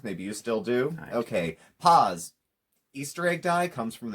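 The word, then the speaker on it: PAAS: with the easter bunny like pause like pause yeah which means i pronounced it correctly i had to go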